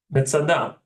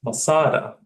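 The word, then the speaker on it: מצדה: Metzadah. So it will be pronounced Masada, right? But the Hebrew Metzadah.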